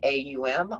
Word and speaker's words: Om: We're going to pronounce it A-U-M, Aum.